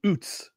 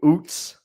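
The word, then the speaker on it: Utz: particularly the Northeast and I don't know how you pronounce it Dustin but I pronounce some OOTS oh yeah that's what chip that's what I do OOTS because because because whenever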